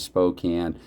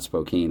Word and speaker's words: Spokane: Canada born and raised, I double checked to see that it was Spokane and not Spokane, at least according to what I Googled. So that's why I'm saying Spokane.